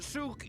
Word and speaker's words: souk: You know how you've been pronouncing it wrong for the last 10 minutes. Yeah, souk, souk, souk, souk.